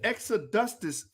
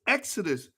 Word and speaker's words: Exodus: extra dusters movement that what is the extra dustus it's exodus ah i'm sorry i'ma